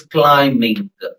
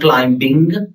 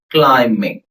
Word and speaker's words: climbing: So B is silent here. So when you add ing participle it's climbing. It's not climbing. It is climbing.